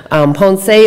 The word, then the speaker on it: Ponce: island where I'm sorry is ponse I'm saying it wrong pond say is on the south